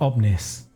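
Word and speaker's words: Omnix: the setting is the plane of omnis the x is silent make of that what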